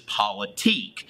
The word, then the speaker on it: politique: of a deal but the right way to pronounce this is politique and these are people